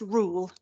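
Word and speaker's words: REUL: retained EU law bill the acronym is r e u l pronounced rule as in one rule for them and another for the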